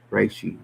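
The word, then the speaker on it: reishi: It should be actually I think R E I R shi Rishi.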